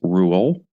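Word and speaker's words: Roald: until very recently but apparently the Norwegian way to say it and the way that he would have said it is Rule the James Bond novels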